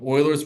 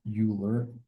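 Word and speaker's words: Euler: thing this is called Oilers formula I think yeah Oilers formula yes it's pronounced Oiler not uler okay so here's what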